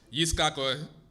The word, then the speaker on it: Yitzchak: And Abraham had Yitzchak, which is the pronunciation Hebrew, Isaac, and then Ishmael, which is Ishmael.